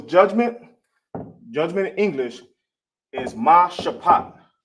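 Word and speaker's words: משפט: Then you got ma shapat. See how you ain't got the A right here at the end for the ta? That's because it's connected. You got the pa and the ta. Minus the A, you got sha, ma shapat.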